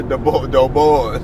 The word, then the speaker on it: Du Bois: I'm saying Dubois, but it could be Dubois, so I don't know. The boys. Okay. The boys. The boys. That's how you say it all the time. The rap boys. I've been saying it all the time. W.E.B. Du Bois. Web Du Bois. Yep. It's the boys.